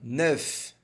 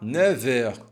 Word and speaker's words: neuf: Com relação a essa palavra aqui, ó, neuf, se for sozinha, você vai pronunciar neuf, com um som de F no final. Neuf, neuf. No entanto, quando a gente coloca aqui horas, vai ficar com som de V.